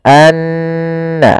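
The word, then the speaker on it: أَنَّهُ: Maka cara membacanya tahan dulu n-nya, anna, baru dilepas.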